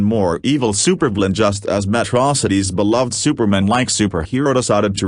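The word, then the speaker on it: Metro City: Megamind, originally voiced by Farrell, now by Keith Ferguson, was a fiendish villain in Metrocity, which he continues to pronounce to rhyme with atrocity, ably assisted by a tech-savvy fish who lives inside a bowl on top of a robot body.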